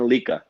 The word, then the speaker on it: Lica: But the right pronunciation for my name, it's Lica.